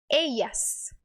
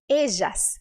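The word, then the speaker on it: ellas: vou te mostrar agora a primeira opção é a letra Opa é a pronúncia no formato de i i Então essa palavra aqui se pronunciaria como eias eias a segunda opção é como se fosse um J do português então seria algo como ejas ejas que é o som que eu utilizo não sei se você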